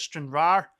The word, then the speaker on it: Stranraer: Someone gave me into trouble for not pronouncing the R at the end of Stranraer.